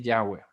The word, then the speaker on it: Yahweh: nombre de Jehová en vano, el nombre de Yahweh. Em, Algunos pronuncian como Jehová, otros como Yahweh y otros simplemente Dios o Señor.